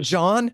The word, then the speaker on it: Gian: gentile who who's writing a oh you just pronounce it john for christ's sake spell it like i'm sorry